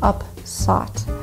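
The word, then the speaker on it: upsot: and the sleigh became up sought the composer was using an old english form of the word upset to rhyme with lot these slaves were prone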